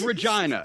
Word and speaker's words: Regina: It's Regina. Regina. It rhymes with... It rhymes with pussy.